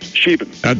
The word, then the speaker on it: Scheben: Yeah, Scheben.